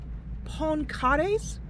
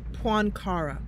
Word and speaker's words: Poincaré: The local authorities believe that the movement is being directed from Paris, one of its objects being to interfere with President Poincaré's visit.